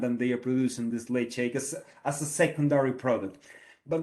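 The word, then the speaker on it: Ledaig: produce two brands tobermory on one hand and leg shake on the other hand and you might be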